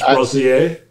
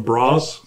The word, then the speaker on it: brazier: I mean, if you're French, it's brasier. I think Americans just call them bras.